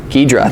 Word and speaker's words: Ghidra: Ghidra, that's how you say it.